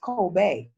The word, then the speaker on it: Kobe: cost now the funniest thing it's it's actually pronounced coal Bay right but we Americans mess everything up like